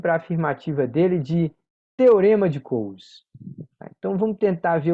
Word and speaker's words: Coase: Olha o nome dele como se escreve aqui, ó, esquisito, C-O-A-S-E, Coase.